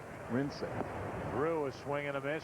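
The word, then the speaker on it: Wrincik: No, it was actually W-R-I-N-C-I-K. Can't read that but far. Pronounced Rinsick.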